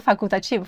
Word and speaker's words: facultativo: E aqui é interessante, nós temos dois sons do U, né? U é facultativo. Quando a gente fala rápido é facultativo. É, não se ouve dois. É, é quando você fala devagar, vai ser facultativo, mas rápido é facultativo. Facultativo iso. Não, não damos muita ênfase ao L ali.